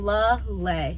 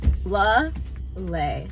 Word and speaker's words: Lele: My name's Kelsey Lele. I don't think I ever pronounced my name. Lele. Think of like the Hawaiian lei. Lele.